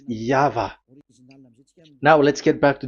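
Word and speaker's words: Yahweh: is the phonms the pronunciation pronunciation is equal V. It is V. Y H VH. So it is Yava.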